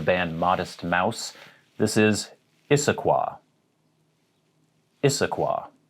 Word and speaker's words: Issaquah: home of the band modest mouse this is issaquah issaquah not isoqua or isoqua issaquah now you might look at